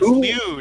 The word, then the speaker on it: Lude: All right, he's Lloyd until further notice. Lloyd, oh come on, it's Lude. It's okay, not that Lude. hard. Okay, Lude. Okay, his name's Lude.